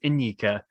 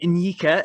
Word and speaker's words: Nyika: His Instagram thing says like pronunciation N-ye-ka. So I think it's Nyika, I think, which I believe is Ugandan heritage.